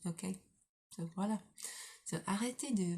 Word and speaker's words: OK: Ok. It's funny because okay, it's kind of pronounced in French, it's pronounced ok instead of oka, which is funny.